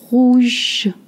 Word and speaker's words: rouge: Rouge, rouge, not rouge, okay?